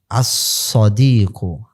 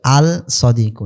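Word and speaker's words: الصديق: আস-সদিকু, আস-সদিকু, এখানে কিন্তু আল সদিকু না, আস-সদিকু, সদ হলো কি শামসিয়ার অন্তর্ভুক্ত, হরফে শামসিয়ার অন্তর্ভুক্ত।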